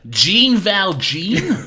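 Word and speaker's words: Jean Valjean: a j that's just the way the French pronounced Jay's like John valon John valj John Val John yeah Jean Val Jean wow um yeah so there's clearly his character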